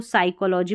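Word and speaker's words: psychology: तो यहाँ पर देखिए इसको निमोनिया, इसको साम, इसको साइकोलॉजी पढ़ते हैं, इन सभी में P है ना साइलेंट, और यही स्पेलिंग्स है जहाँ पर P साइलेंट है, कुछ है कि स्पेलिंग है, ज़्यादा नहीं है।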